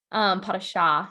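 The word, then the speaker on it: pas de chat: Well, but I'd like to point out that he said pot of shot. Oh, Like he did? pot of shot. The T is silent. And Ooh. then pot of shah.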